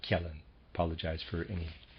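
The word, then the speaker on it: Kjellén: developing kellen readers aside kellen has spelled k-j e ll e with a graph and i am pronouncing that Kalin apologize for any mispronunciation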